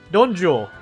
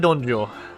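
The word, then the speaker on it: Dong Zhuo: Donjo. We'll go with Donjo. There you go. Donjo. Donjo. It's a ZH plus the Jo.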